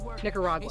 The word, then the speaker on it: Nicaragua: I I traveled there did I say it right Nicaragua Nicaragua Nicaragua okay yeah don't space that out Nicaragua yeah say it all at once okay you travel there